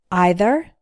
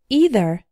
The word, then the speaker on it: either: net both these words have two possible pronunciations either and either neither and neither both are correct first let's learn how